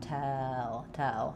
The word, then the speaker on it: tell: So the main difference between these two vowels is that L is going to be a little bit more open, and it's not going to glide. It's going to be flat.